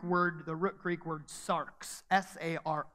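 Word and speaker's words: σάρξ: uses the Greek word the root Greek word Sark's SAR X so you spell that and the idea here is that it's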